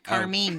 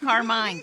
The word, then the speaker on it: Carmine: Carmine. Not Carmine.